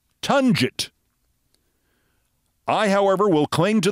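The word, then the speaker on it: Tonguette: that field suggest T his name is actually pronounced tangit I however will cling to the hope that given his self congratulatory anti-constitutional fascism Peter t o n gu tte actually pronounces his name Peter tongit Two Bits of bookkeeping before we resume Hey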